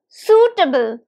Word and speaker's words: suitable: your screens it's suitable suitable now can you recognize the syllables suitable it has three syllables and the stress is on the first one right the first syllable so it's suitable suitable